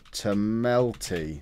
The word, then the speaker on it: Tomelty: is satam Rob tamel that's not Rob Tel's name it's Rob tamel that's that's how Rob tomelty is spelled um so this is